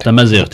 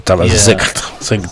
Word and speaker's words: Tamazight: Tamazight, am I saying it right? Tamazight, yeah. Tamazight. Tamazight Nsus. Yes. Okay, but you say with an R, and here is like a GHT, like it's Tamazight.